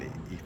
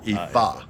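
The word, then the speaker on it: Ifá: if a ea I F A but it's pronounced with an EA right EA hey you guys look it up check it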